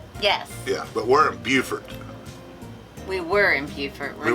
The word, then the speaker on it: Beaufort: from beaufort south carolina not to be confused with beaufort north carolina apparently they're spelled the same and they're both named after the right or the same person but one is beaufort and one is beaufort and they get mad if you call one the other one and